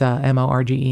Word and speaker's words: Morgen: It's Morgen.